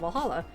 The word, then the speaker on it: VA-11 Hall-A: you R well Hala the name sound silly and a bit hard to pronounce good thing it's actually called Valhalla the funny numbers and